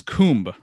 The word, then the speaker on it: Kumbh: So in India, Aquarius for them is Kumbh or Kumbha, depending on how you say it.